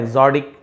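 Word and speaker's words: exotic: लिखा टी है बट ड जैसे उच्चारण होता है। एग्जोटिक dishes.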